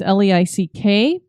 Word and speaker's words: Leick: It was designed by German architect Karl Leik, I think is how you say his name. It's Leick. And it was actually the last brick lighthouse that he ever did design.